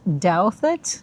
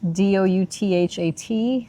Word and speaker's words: Douthat: We are at, it's pronounced Douthat, Douthat State Park in Virginia.